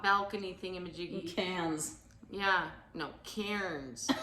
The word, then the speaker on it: Cairns: Yeah, no, cairns. It's actually pronounced Cairns. Even though they pronounce it cans.